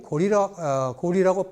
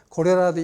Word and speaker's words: 고려: 그러면 고리는 고리라고 분명히 읽어야 되는 거지 고려라도 읽으면 안 된다고 일부러 줄을 달았어요. 왜냐? 그때부터 이미 고려라고 읽기 시작한 사람이 나오기 시작한 거예요. 그러니까 안 돼. 그렇게 읽으면 안 되고 고리라고 읽으라고 줄을 단 거예요.